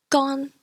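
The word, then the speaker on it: 乾: ON is like on from dawn, but instead of it on being a longer sound, shorten it a bit. So example, gone, which means to dry.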